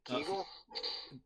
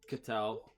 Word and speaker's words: Ketel: Keagle? Ketel.